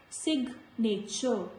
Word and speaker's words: signature: This word is signature. So we are speaking out the sound of letter G. Signature. In this, letter G is silent. Sign. But in signature, letter G is not silent.